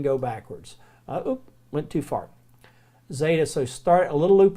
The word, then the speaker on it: Zeta: a little bit different called Zeta and it's it's pronounced like a DZ sound a DZ sound or z sound depending but the letter is